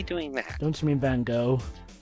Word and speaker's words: Van Gogh: I don't know, Joe, how it's pronounced in English, but we keep the G, the final G. Okay, in America, the G and H are... Well, the G's silent.